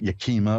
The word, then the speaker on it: Yakima: get another reading in here uh Karen in Yakima Washington hi you're on with Reverend Elliott all right hi did I pronounce that right Yakima yeah because I know